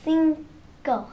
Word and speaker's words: cinco: But in Spanish, the I makes an E sound. Okay? Cinco.